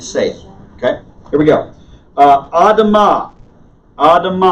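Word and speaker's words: אדם: okay here we go Adam ah ah - mom notice the stresses on the last syllable except when it's not the stress is always on the last syllable of a Hebrew word except when it's not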